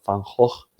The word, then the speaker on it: Van Gogh: que se venda porque de vincent van gogh pronunciado fan host y te paguen una